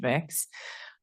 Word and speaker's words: Mx: which is often used the non-binary MX um pronounced mix I um taught in